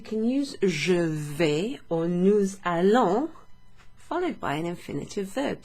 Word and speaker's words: nous allons: It sounds like a Z sound, okay?